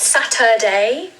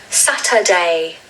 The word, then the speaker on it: Saturday: This is the only day of the week that has 3 syllables. The stress falls on the first syllable, just like the other 6 days. And you really want to stress that Saturday. So the middle syllable is a schwa, okay? So not Saturday, it's Saturday.